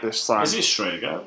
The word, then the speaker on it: Strega: That we're actually pronouncing this right this time. Is it Strega?